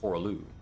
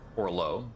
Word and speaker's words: Horah Loux: We've attained the remembrance of Horalu. Warrior. Horalo, I think, actually is the pronunciation.